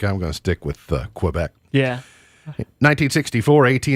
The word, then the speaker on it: Quebec: or not but it's we're not supposed to pronounce it quebec it's quebec that's how it's supposed to be pronounced but